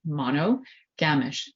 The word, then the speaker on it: monogamish: monogamish is spelled m-o-n-o mono gamish g-a-m-i-s-h so yes monogamish but monogamous it's like ish you know it's like monogamy with an ish it's like reddish brownish yellowish so it's a fun